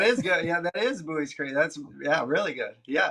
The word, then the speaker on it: Buies Creek: Are you Are you impressed I knew how to pronounce Buoys Creek? That is good. Yeah, that is Buoys Creek.